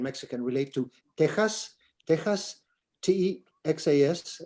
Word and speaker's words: Texas: Texas, T-E-X-A-S, the X in Spanish is pronounced like a J. Texas, like an H, Texas, is the name of the Caddo Indians of eastern Texas.